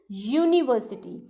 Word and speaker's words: university: Like a university, u is consonant sound. It is not umbrella, like umbrella university. It is university.